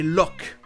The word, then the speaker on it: lough: Celle du dictionnaire de Cambridge est loch, comme un loch, le mot écossais pour un lac.